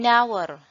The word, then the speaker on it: hour: An hour, nah ini au, silent H ini ya.